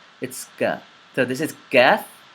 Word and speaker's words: Qaaf: So this is Qaaf, not calf. Another way that I see a lot of English speakers mispronouncing another word, an Arabic word that I